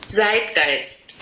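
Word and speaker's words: Zeitgeist: pronunciation is not perfect so this is what it sounds like on Google translate Z gist so the meaning of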